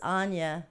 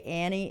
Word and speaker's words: Anya: card that I pulled this is Anya and her dragon I used to say Annie and her dragon because